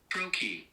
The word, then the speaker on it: trochee: Trochee. Trochee. So it's trochee. A metrical foot consisting of one long syllable followed by one short syllable, or of one stressed syllable followed by one unstressed syllable.